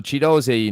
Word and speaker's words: Ogbene: will yeah yeah so chido not Ki as it's spelled correctly there chido so goal for Luton Town in